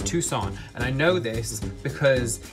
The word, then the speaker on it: Tucson: It's spelled like Tucson, but sounds like Tucson, Arizona. I feel like I've heard people refer to this place as Tuscan, but then I'm like, is it Tucson?